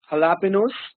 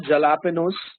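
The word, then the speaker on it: jalapeño: a military government now J is H in Spanish uh you see this in so many words like San Jose There's a Place San Jose why don't you pronounce it San Jose San Jose this word halapin it's not jalapenos okay and this word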